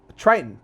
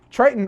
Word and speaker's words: Triton: It's called Triton. Neptune has more moons than Triton. I think Neptune has like 12 moons. But Triton, not Triton.